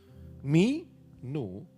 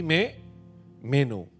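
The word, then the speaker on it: μένω: Jangan pakai bahasa Inggris. Mi no bukan begitu bacanya, Saudara ya. Tapi me meno.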